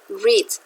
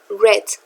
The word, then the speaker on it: read: Esta es la forma infinitiva, read, pero el pasado simple y el pasado participio, aunque se escriben igual, se pronuncian read.